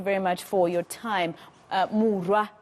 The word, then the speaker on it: Muroa: Muroa, excuse me. I keep correcting myself, and I have one of my bosses who's sending me even voice notes to remind me that that's how you pronounce her surname.